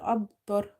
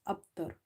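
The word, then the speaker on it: أبتر: So first is when you see qalqala letters are silent, okay, but they are in between somewhere in the word like this, abtar. The word is not ending with a silent letter. So then the qalqala will be weak. You can feel it, but not much. But if the word is that much like ab, you will feel it quite much.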